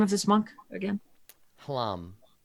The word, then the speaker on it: Hlam: Hlam. Plum? Hlam. Hlam. Oh, Hlam. Yes, not an easy thing for me to pronounce in a way that any person could understand. HLAM. Yeah. I heard right. plum. I know, right? Because that's a word, and hlam is not.